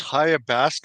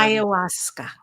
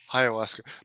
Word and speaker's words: ayahuasca: No, I think it's Hayabaska. Is that how it's pronounced? The uh the plant? What's it called again? Ayahuasca. Ayahuasca.